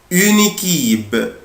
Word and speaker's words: une équipe: بلاقي عندي une équipe une équipe équipe يعني فريق أو تيم. هنا انا بقولها اون ايكيب، بس لما اجي انطقها طبعا مش هفرق ما بينهم، مش هقول اون وايكيب على بعضها كده.